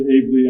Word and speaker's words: Abell: Yeah, you pronounce it ably and I will move.